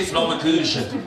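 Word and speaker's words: Flammekueche: Bien sûr, vous connaissez aussi les Flammencourt, dit tarte flambée, prononcée Flammekuche, à déguster entre amis.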